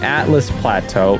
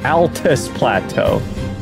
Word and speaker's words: Altus Plateau: wrong this whole time it's not the atlas Plateau it's the Altus plateau but I'ma call